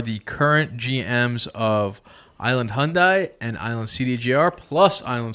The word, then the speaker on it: Hyundai: Island Hyundai Hyundai yes rhymes with Sunday Sunday it's not Hyundai it's not Hyundai it's